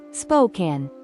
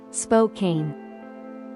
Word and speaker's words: Spokane: you've done a little research so remember it's Spokan not Spokane number seven de moin Iowa next on the